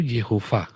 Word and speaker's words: Yehova: Yang benar itu Yehova. Yehova Syama. Yang betul Tapi Yehova, bukan Yahweh.